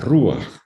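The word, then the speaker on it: רוח: espíritu de dios las rúas nos digan el el rojo nunca digan esa barbaridad es el femenino y es con el acento en la uv la rúa a donald es la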